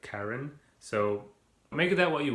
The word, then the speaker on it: Charon: pronounce the name it's c-h-a-r-o-n but i think based on like kind of the pronunciations of other greek names in mythology it wouldn't be like cheiron or charon it would be like karen so make that what